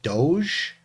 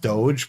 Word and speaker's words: DOGE: there so I know it's pronounced Doge probably like the uh the Venetian Duke but I kind of like saying dog uh let's see here